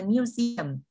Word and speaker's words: museum: She's working at the museum until the end of month. Museum trọng âm và âm tiết thứ hai nhé các bạn nhé.